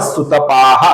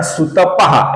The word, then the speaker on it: सुतपाः: कुछ लोग इसका उच्चारण सुतपहा ऐसा करते हैं। ओ के आगे विसर्ग नहीं है दोस्तों, पा के आगे विसर्ग है, सुतपाहा ऐसा इसका सही उच्चारण है।